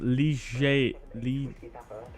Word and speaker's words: Liège: Liège is actually pronounced Liège. Liège.